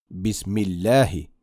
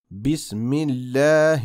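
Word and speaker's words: بسم الله: recitar la palabra completa hay gente que cuando recita algunas palabras eliminan la letra a por ejemplo cuando pronuncian bismilegie la letra g no la pronuncian y desaparece Pero esto no Debería ser así la letra a debería oírse de forma clara muy bien repite detrás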